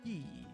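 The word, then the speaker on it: ギ: Next, Gi, pronounce this as Gi, like in the word geek, or what is another one?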